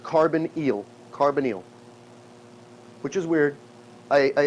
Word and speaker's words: carbonyl: o is called a carbon eel it is pronounced carbon eel carbonyl which is weird